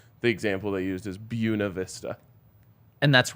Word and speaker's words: Buena Vista: It could be like Buena Vista is one of the most offensive names for a city that exists. You mean Buena Vista?